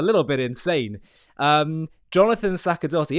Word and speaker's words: Sacerdoti: Um, Jonathan Sakadotti, is it Sachadotti or Sakadotti? Satchotti is a is a good English approximation.